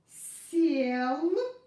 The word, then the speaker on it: сел: So we pronounce this consonant like s, hard. S. And then we pronounce it's not the following. And then we pronounce this vowel like in the alphabet. Ye. S, ye. S, ye. Съел. So listen again. Се, съе. Се, съе. Сел, съел. Сел, съел. Сел, съел. I hope you got the difference.